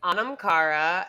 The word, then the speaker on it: Anam Cara: It's Anam Cara. If I drop the H, I feel like people would be able to pronounce it easier.